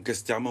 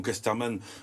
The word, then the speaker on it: Casterman: à RG aux éditions Casterman ou Casterman selon les prononciations pour les aventures de